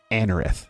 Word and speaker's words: Anorith: Anorith, that's how you say it in Armaldo.